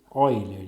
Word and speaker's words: Euler: Se escreve Euler, mas a gente lê Euler.